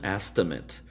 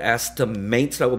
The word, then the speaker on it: estimate: 이때 estimate라고 발음하지 않았죠. 여기서는 제가 estimate이라고 발음했습니다. 왜냐하면 an estimate, 앞에 부정관사가 붙였다는 것은 명사가 됐다는 것이죠. 그래서 ate로 끝나는 단어가 동사가 되면은 ate로 발음나지만 다른 품사면은 it으로 발음납니다.